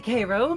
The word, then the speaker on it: Cairo: help okay is it Caro Caro well it's uh technically Cairo but folks pronounce it either way I don't bother to correct anymore oops well um